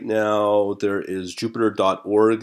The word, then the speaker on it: Jupyter: very powerful and for those that are listening it's spelled j u p y te r ok so that's Jupiter Ju py ter and it's with interactive computing